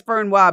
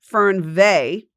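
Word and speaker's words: Fernweh: Ferna Fern, but it's it says Fernwa, but it's spelled it's pronounced Fernve. This is German.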